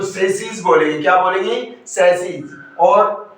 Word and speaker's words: chassis: चेचिस। क्या बोलते हैं साथियों? चेचिस बोलते हैं। लेकिन ये जो वर्ड है इसका करेक्ट प्रोनाउंसिएशन क्या होगा मेरे साथियों? इसका करेक्ट प्रोनाउंसिएशन होगा सैसी।